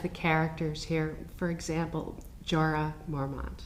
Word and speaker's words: Jorah Mormont: For example, Jorah Mormont.